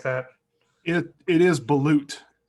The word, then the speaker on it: balut: that it it is balut it is balut by the way finally i i said it wrong i said bullet but it's my loot you're insulting our french